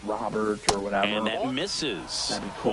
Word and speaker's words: Robert: It's pronounced Rober. Next to hit, Paul. Someone can tell me, you know, how it's pronounced if it's Robert or whatever.